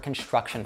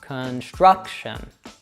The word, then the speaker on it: construction: Next, you'll find the primary stressed syllable in that word. And then finally, as we heard before, usually unstressed syllables use that schwa sound. So probably besides that stressed syllable, all the other ones will be schwas.